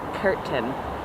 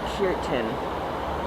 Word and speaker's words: Khertan: all very new anyway the word is spelled k h e r t a n curtain but you pronounce it i think puritan because heart was pronounced